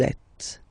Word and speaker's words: êtes: Vous êtes. Same thing here. Notice that final S is not pronounced. Et.